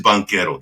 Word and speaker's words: Banchero: So it is Banchero. That's how you pronounce it, because it means banker in Italian.